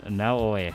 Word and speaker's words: Naoe: Pronounced Naoe. Okay, Naoe.